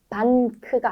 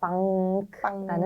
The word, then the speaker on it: Bank: Bank, Geschenk. 네, 여기서 이제 포인트는 반크가 아니라 빵크라는 빵. 소리가 난다는 거고요.